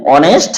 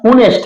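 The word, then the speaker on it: honest: হি ইজ এন অনেস্ট ম্যান হি ইজ এন অনেস্ট ম্যান এখানে দেখেন এইচ টা কি এইচ টা হচ্ছে কনসোনেন্ট কিন্তু এইচ এর উচ্চারণ হয় নাই হইছে কি ওর উচ্চারণ এখানে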